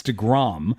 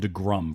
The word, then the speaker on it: deGrom: listening to your show, because you don't say it right. It's DeGrom. Everyone else calls him DeGrom, but you guys call him DeGrum for some reason.